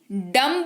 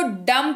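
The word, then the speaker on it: dumb: होता है झाल डियो MB डंब नहीं पढेंगे भी नहीं है यहां पर भूल गए भूल गए हम इसको डम पढेंगे पढेंगे दाम यानी कि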